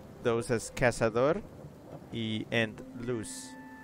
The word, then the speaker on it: cazador: Pronounce them with the cooler Latin American Spanish. So just the S sound, essentially. Cazador in luz.